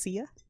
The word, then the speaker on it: Sia: new bottle this month is this pronounced sia it is okay tell us about it all right so uh see ya this month we're what we're drinking is sia it's uh it's a